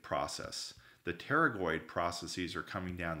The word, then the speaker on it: pterygoid: I believe it's pronounced pterygoid process the pterygoid processes are coming down the P silent come down here from